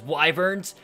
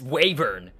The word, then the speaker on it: wyvern: hear how he pronounces wyverns? It's Wavern. Actually, jackass, it is regional. There is Wyvern, Wavern, and Wyvern, and everyone says it differently, and even people on the dev team say it differently.